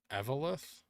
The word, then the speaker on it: Eveleth: Towns in Minnesota are pronounced Wyzetta, and Evelith.